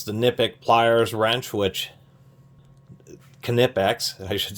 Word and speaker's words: Knipex: tools, whether it's the Knipex pliers wrench, which Knipex, I should say, try to say it correctly, which are excellent, the pliers wrench, which are, very copied now.